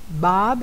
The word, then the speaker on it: Bob: Bob, a gente pronuncia esse O quase como se fosse um A, tá?